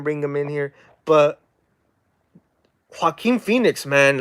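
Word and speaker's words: Joaquin: name ah man I'm a buter his name Haim Phoenix there we go right that's how you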